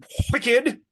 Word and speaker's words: Wicked: But yeah, so shout out for Wicked with the hard WH sound at the beginning. Wicked.